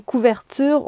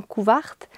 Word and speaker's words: couverture: Ah oui, puis je voulais vous dire que pour moi, ça, c'est une couverte, une couverture. On prononce souvent couverte.